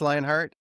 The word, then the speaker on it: Lyonhart: Yeah, it's pronounced Lionheart.